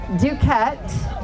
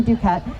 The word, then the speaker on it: Duquette: Uh my name is Duket. It rhymes with don't forget Dukat.